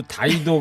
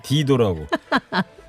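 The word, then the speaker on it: Dido: 이번에도 다이도 그래야 되는데 디도라고. 또 영국에서 1년 넘게 공부했잖아요.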